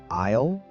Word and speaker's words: aisle: Remember the word aisle? Oh, the classic trap. It has a silent S.